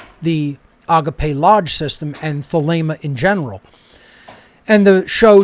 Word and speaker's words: Thelema: and then thilema is with a long a sound in the uh second syllable not the lima so